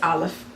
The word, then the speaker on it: Aleph: So it's the same thing like with Aleph. So for all practical purposes, it's considered to be a silent letter.